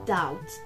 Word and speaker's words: doubt: i have adopted okay it's doubt the b is silent ah silence no